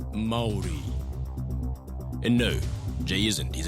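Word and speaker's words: Māori: It's pronounced Maori.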